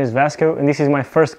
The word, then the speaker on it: Vasco: me in the comments hi my name is vasco or if you want to pronounce it the right way it's pronounced vashku but i recorded this